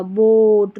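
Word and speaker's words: boat: ओ ए, इसको ओ पढ़ेंगे। अब इसका भी उच्चारण क्या लॉन्ग होगा, बोट, रोड, शॉर्ट नहीं होगा, बोट, रोड, ऐसे नहीं, ठीक है।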